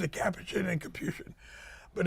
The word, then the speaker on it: Capuchin: There's two ways to pronounce it, Capuchin and Capuchin. But if you're around the priest, you say Capuchin, because it's very Italian.